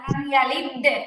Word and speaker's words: لم يلد: لم يلد ولم يولد কলকলার উচ্চারণটা কি হবে এখানে জেরের কাছাকাছি হবে কিন্তু তাসদীদের মতো আবার শক্ত হবে না লাম ইয়ালিদ এরকম শক্ত হবে না নরম করে উচ্চারণ হবে লাম ইয়ালিদ লিদ লিদ এরকম শক্ত